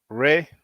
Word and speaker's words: Ra: wrote never a tomb ray which really is robert it's all good brothers and sisters try to say ra it's better to say rather than ray was most likely the accurate pronunciation where are you calling